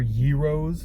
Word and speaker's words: gyros: What, they got fucking gyros here, or gyros as I should say. I should say, because that's actually how it's pronounced.